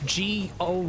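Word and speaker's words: Gou: least some of the normal GA mission uh GO rank. What do you even What is this rank called? It's not G rank. Is it Gal? Like because it's G O U G rank or top rank.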